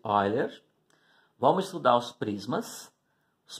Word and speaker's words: Euler: Dentro dos poliedros, nós estudamos a relação de Euler, está escrito Euler, né? Se escreve assim, mas pronuncia-se Euler.